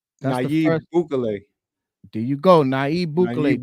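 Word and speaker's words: Nayib: got his name is n n a y i b naay there you go naive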